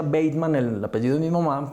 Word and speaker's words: Bateman: Vivart quiere decir Bateman, se pronuncia Bateman, el apellido de mi mamá, pero sí, aquí se pronuncia Bateman.